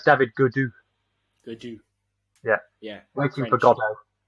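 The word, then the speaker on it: Gaudu: today what's his name oh uh it's david goodwoo they do yeah yeah thank you and all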